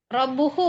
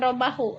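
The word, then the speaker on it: رَبُّهُ: Robbuhu Bu, bukan robahu. Robbuhu.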